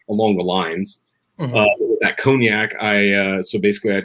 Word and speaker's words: cognac: and black currants uh co can never pronounce that right cognac is how you say conan cognac okay um talk about